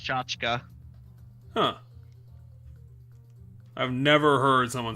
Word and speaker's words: tchotchke: so Merriam-Webster though says it's pronounced tchotchka.